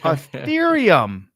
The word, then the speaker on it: Ethereum: word Ricardo how do you say that ethereum ethereum ethereum that's called a clue guys it's called